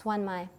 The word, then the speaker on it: Xuân Mai: Okay, and she's called Mai through most of the book, but her full name is Xuân Mai, and you pronounce that X-U as Swa, so it's Xuân Mai.